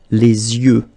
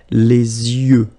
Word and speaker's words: les yeux: Okay, so l'œil, singular, and then the plural, les yeux. Okay, you make this liaison between the two. Les yeux. Okay, final X not pronounced.